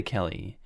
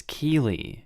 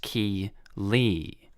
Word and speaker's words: Keeley: realized she was calling my daughter Kelly my daughter's name is Keeley pronounced ki Lee so after school was